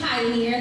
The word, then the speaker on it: Pi-Anir: So, I am Pi-Anir. That's P-I-A-N-I-R. I always have to spell it because it sounds like the word, but it's technically my name backwards.